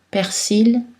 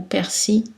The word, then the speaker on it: persil: Sa prononciation peut être variable, comme nombril ou nombril, persil ou persil, sourcil, sourcil.